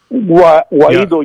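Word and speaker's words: Guaidó: I don't think Guaido, is that how you pronounce his name, is Guaido? Guaido, yeah.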